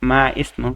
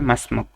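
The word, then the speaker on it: ما اسمك: মাসমুক তোমার নাম কি মা ইসমুক এটা না উচ্চারণটা হবে মাসমুক তোমার নাম কি আচ্ছা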